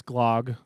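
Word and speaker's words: glögg: So the Yeah, because I pronounced it Glug and she said no. She's like no, it's Glog, and if you want to put an accent on it, it's Glug, Glug, Glug.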